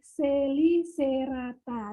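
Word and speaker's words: Chelicerata: Jadi kalau tulisannya cacicu ceco, maka bacanya kasiku seko, ya. Nah, tulisannya ini Celicerata, kita baca kasiku Selicerata.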